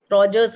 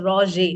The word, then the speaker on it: Roger: Roger's murmur also it's called as. It's a French word, so it's Roger.